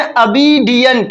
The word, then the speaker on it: obedient: You should be कैसा होना चाहिए, आज्ञाकारी, और आज्ञाकारी की स्पेलिंग होती है OBEDIENT। इसको पढ़ते हैं अबीडियंट, क्या पढ़ते हैं, अबीडियंट, ठीक है।